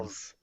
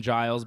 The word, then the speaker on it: Giles: Gills. Yeah, it's I not really Gills. doubt his name is Gills. It's definitely Trevin Giles, but AJ It's Gills. mispronounces everybody's name. Giles looking for a head and arm choke right now.